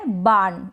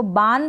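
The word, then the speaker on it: barn: इसको बार्न भी बोल सकते हैं और बार्न भी बोल सकते हैं, यानी आर का प्रोनाउंसिएशन जैसे मैं बता रही हूँ अभी थोड़ा करेंगे तो भी चलेगा, और बाण करके या बान करके दोनों ही करेक्ट होगा।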